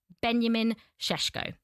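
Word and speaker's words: Benjamin Šeško: So, everyone out there, whether he goes to Manchester United, whether he goes to Newcastle, that is how you pronounce it, Benjamin Cheshko.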